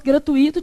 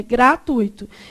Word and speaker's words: gratuito: Como é que eu pronuncio isso aqui? Gratuito, né? Se fosse gratuito, tinha um acento onde? No I. É gratuito.